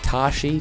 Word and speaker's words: Tashi: yeah it was like Tashi t a s h i station like PlayStation so how you'd think it's spelled but um all right